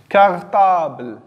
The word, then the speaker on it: cartable: Et on a dit que lorsque la lettre C suivie d'un A, ça donne la syllabe K. Donc, on entend le son que.